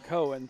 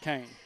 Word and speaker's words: Cohen: five uh one that you've been calling Cohen uhhuh that's pronounced Kane Kane Kane yes I